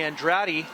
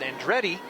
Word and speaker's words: Andrade: And that's going to bring Andrade, excuse me, they pronounce it Andretti, up to hit for the first time tonight. Kind of like the famous race car driver, Mario. Yeah, that was the Andretti. That was the first thing that I thought of. A little bit different spelling, but apparently pronounced the same way.